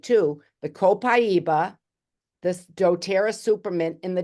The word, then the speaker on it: Copaiba: and the first one people pronounce it differently I say copaiba like c p i